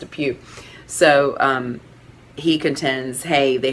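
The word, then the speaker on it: DePuy: you say it looks like deployed but it's pronounced a few so he contends hey they had to act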